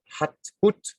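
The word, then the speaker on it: ḥwt: So this is hut. That's how you pronounce this, hut.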